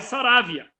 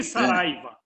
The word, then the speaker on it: Saravia: Lá no Uruguai, Saravia. Tá? Igual essa pronúncia desse jogador internacional aí que é da Argentina, mas Saravia. Aqui, Saraiva.